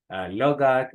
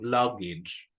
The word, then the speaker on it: luggage: Algunos pronuncian logag, otros logag, otros lugag, pero ninguna de esas es la pronunciación correcta.